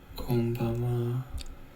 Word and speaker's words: konbanwa: Konbanwa is a Korean pronunciation of the Japanese greeting, konbanwa, which means good evening in Japanese.